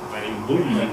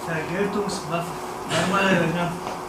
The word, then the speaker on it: Vergeltungswaffe: siento incapaz de hacerlo, Vereinbullen o algo así. Tú seguro que la sabes mejor, ¿verdad? ¿Cómo? Vergeltungswaffe. Sí, bueno.